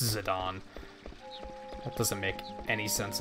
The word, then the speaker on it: Zidane: like, "What the fuck do you mean it's pronounced Zidane?"